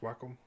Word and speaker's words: Wacom: I have my Wacom, it's pronounced Wacom.